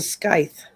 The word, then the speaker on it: scythe: That's a scythe.